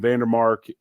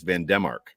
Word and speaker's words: Van Demark: I will correct you on Vandermark because every time Josh Allen has been asked about Vandermark, he says Van Demark.